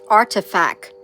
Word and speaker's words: RTFKT: the virtual sneaker company rtfkt pronounced artifact for an undisclosed amount